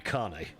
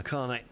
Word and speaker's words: Kané: So up comes uh Amadou Kay. Sorry, Amadou Kané. Really should uh pronounce that one properly, shouldn't I? Uh Kané.